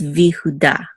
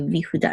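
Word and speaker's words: וִיהוּדָה: The name by itself would be Yehuda with the accent on da, but because we have the vav here, it's V. It's Vihuda. Okay, Vihuda.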